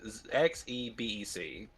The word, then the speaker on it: Xebec: It's the Xebec or Quebec. It's Xebec.